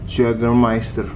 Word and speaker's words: Jägermeister: Apa nih bacanya? Jägermeister.